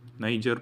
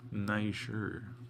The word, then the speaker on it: Niger: Niger po ang baso doon. By the way, huwag niyong ano, don't say the NW. May naririnig po akong ano, NW ang pagkabigkas nila.